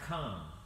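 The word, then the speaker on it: רחמים: and that's the word common and you have to kind of clear your throat when you speak Hebrew you know when it's up and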